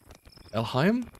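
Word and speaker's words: Elhaym: So it's Erehaimu in Japanese. Erehaimu. Erehaimu. That's how you say it in Japanese.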